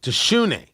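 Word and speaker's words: DiJonai: Also, it's Dijonay. Dijonay. That's your name. Dijonay uh Carrington. Is it It's Dijonay. Dijonay. Like shoe. Deshoenay.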